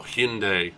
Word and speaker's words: Hyundai: literally a warm-up lap hyundai or hyundai as americans say well by the way